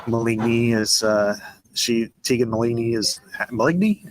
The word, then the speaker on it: Maligny: is Tegan Maligny is Maligny. I can't remember how you pronounce it. It's Mullaney. It's Mullaney. Mullaney.